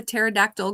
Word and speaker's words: pterodactyl: Why can't you hear a pterodactyl going to the bathroom? Because the P is silent.